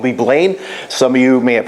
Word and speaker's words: Leeblain: I always have a problem pronouncing it. What is it? Leeblain? Leeblain. Leeblain.